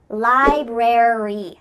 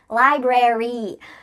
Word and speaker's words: library: Well, in this case, a r y at the end of words is going to indicate that in American English, we're going to pronounce the full word. Library, secretary, military.